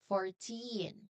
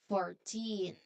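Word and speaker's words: fourteen: Um try to really focus on um let's say your energy on the end part 14 again. 14.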